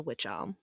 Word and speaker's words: wych: lou bella down the witch alm and no thank you i would have moved and because the word witch for which elm is spelled w-y-c-h the police were led